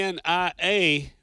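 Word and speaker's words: Onia: O-N-I-A, but the locals call it Oni.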